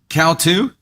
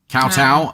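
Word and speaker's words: kowtow: It's can it's pronounced cowu. Cowtow. Oh, cowtowing.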